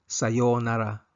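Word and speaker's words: さようなら: Kung matagal na hindi magkikita, sa pagbati ng goodbye ang sasabihin ay sayonara. Sayonara. Long vowel ang pagbigkas ng sayonara.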